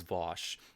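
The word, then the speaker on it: Vaush: I believe it's pronounced, the correct way to pronounce it is Vosh, because I did watch one of his videos, and when he spoke and said it himself, he's pronounced it Vosh.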